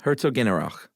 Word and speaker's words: Herzogenaurach: Yeah, Herzogenaurach. It's not exactly said that like that. Here, let's play this. Herzogenaurach. That's how it's said.